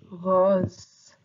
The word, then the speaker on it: rose: In French we pronounce it rose.